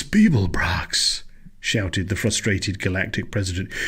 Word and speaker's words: Beeblebrox: You didn't complete your task, Babblepox. It's Beeblebrox, shouted the frustrated galactic president.